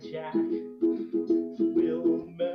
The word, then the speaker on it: Jack Wilmer: It's hosted by Jack Wilmer. And yes, I was told to pronounce it like that.